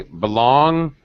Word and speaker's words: belong: Belong. No, you do not pronounce the G.